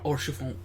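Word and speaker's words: Haurchefant: You didn't even pronounce the H. Orchefon.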